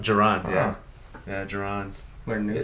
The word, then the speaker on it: Jerron: Is that how you pronounce it? It's not Jerome? Jerron? Jerron? Jerron, yeah.